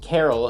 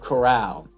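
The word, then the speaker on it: Corral: like my panthers reboot i kept saying matt carroll instead of chorale and i genuinely did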